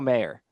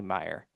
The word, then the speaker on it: Mayer: a row, but Marcelo Mayer. Um, I'm never gonna get it right. I think it's actually Meyer, but I always say it wrong.